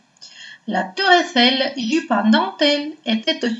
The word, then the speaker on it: La Tour Eiffel: La Tour Eiffel. Какие правила чтения нам здесь встречаются? Первое правило чтения – это «ОЮ» читается как «У». И «э-э-и» читается как «э».